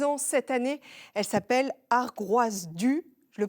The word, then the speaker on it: Ar Groaz Du: fêté ses 10 ans cette année elle s'appelle argroise du je le prononce bien Jeanne tout à fait ça veut